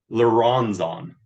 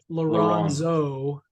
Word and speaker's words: Laronzo: Theyron Laronzo, just with an O at the end, but yeah, that's Laronzo.